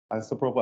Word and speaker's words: isopropyl: It's IP, I think they call it an IPAC, but it's isopropyl alcohol. Yeah, that's how you pronounce it.